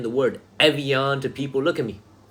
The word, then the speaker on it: Evian: It's going to be Evian. I knew something was wrong, by the way, when I saw a comment that somebody said, have you ever heard it pronounced this way before? I knew something was wrong. I knew I made a mistake.